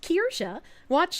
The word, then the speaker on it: Kirsche: Her name is pronounced Kirsche.